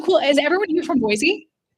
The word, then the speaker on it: Boise: I think you could tell that I'm not because I called it Boise instead of Boisey. Actual actual local boyians say you're not from here because you say it wrong.